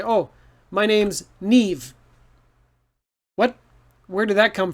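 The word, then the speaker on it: Niamh: a name in english if you see this name it's nev so trust your ears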